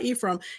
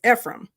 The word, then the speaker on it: Ephraim: So I know it looks like Ephraim, but it's not Ephraim. It's Ephraim. Okay. That's his second son. That name means fruitful. And he names him Ephraim because he says, God